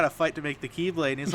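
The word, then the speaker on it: χ-blade: the ultimate doomsday weapon which is called the keyblade but it's spelled like the X blade uh while Aqua story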